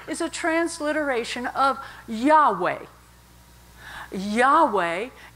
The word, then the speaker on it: Yahweh: a transliteration of Yahweh Yahweh is the pronounceable form of y-h-w-h which was intentionally an